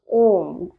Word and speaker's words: ओम: बिल्कुल सीधा रखना है अपने मुंह को खोलना है जब तो हमें आ का उच्चारण निकलेगा जब हम मुंह को स्पॉट जैसा बनाएंगे जैसे कि स्पोट जैसा तो वो ओ हो जाएगा और जब हम ओठों को अपने बंद करेंगे तो वो मा हो जाएगा तो आ उ